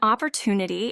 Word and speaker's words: opportunity: An opportunity is a chance to do something good or beneficial. The pronunciation is up or to knee t. The stress is on to opportunity.